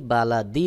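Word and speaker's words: بلد: লা দাল জের দি বালা দি রয়েছে এখানেও যখন দালের উপরে থেমে যাবেন তারপরে দেখুন ত রয়েছে ওয়াকফের চিহ্ন থেমে যাওয়ার কারণে জের সাকিন হয়ে যাবে তখন সহি উচ্চারণ হবে বালাদ বালাদ তারপর মিম জবর মা আইন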